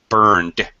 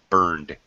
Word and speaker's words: burned: voice sound like um burn is n Sound is very much very much voiced burned with a d burned so little pronunciation there